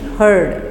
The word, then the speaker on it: heard: हर्ड, हियर्ड नहीं है, हर्ड है।